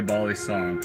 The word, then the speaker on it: balisong: I love it most when they say balisong, so it's like they know the Filipino pronunciation, the OG.